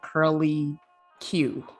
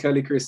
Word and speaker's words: Curly Chris: about the name though almost everyone pronounces it curly q when they first i don't know that's a snack or a character but everyone says 20. bruce got on point when he said curly chris so he's he's good